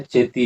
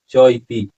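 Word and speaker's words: चेति: अब यहाँ फिर है चेती, इसका उच्चारण क्या होगा, चेती नहीं होगा चौइति प्रयोजनम कल्पितम अस्ति, ऐसा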